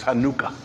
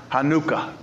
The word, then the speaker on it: Hanukkah: celebration of Hanukkah or if you really want to get technical in the Hebrew pronunciation of it is Hanukkah Hanukkah in fact that Hebrew